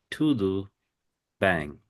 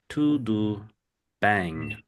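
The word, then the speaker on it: tudo bem: It's tudoo bang. To do bang. The second word is like bang like b a n g.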